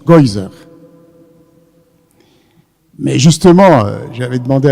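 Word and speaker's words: גזירה: Et en yiddish, ça se prononce Geuser.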